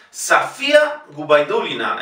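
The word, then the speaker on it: Sofia Gubaidulina: Y fíjense, la O en Safía no es la sílaba tónica, por lo tanto se pronuncia igualmente A. Safía Gubaidulina.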